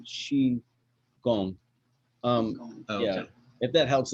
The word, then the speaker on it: Qigong: like kung fu but now they spell it with a q and the q sounds like sure so if you see q-i-g-o-n-g that's she gone um yeah if that